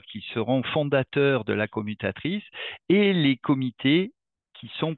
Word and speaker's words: CoopMutActrice: aussi CMA voilà et qu'on prononce commutatrice parce que ça produit de l'alternative même si c'est COP mute et actrice hein voilà pour mutuel